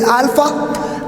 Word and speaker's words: Alpha: this one, which is pronounced not A now, but it is pronounced as the way you can pronounce in the word father.